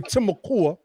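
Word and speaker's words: Timucua: clown he said that Tamiqua as he caught them the timokua that's the proper pronunciation and he called the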